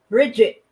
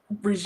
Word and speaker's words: Brigitte: She is talking about Bridget Macron. Or can you pronounce Brigitte? Brigitte.